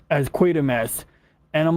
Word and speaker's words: Quatermass: Because like I was doing Quartermass too. I think someone else pronounced it Quartermass.